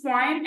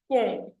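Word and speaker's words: poem: पोम कैन be pronounce is पोइम एंड इट can also be pronounced S पोम।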